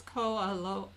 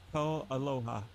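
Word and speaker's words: KoAloha: No, I think it's Ko'aloha. It's K-O and then Aloha. Ko'aloha.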